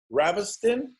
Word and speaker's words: Ravestijn: You can, the J is silent, so you can call me as well if you want.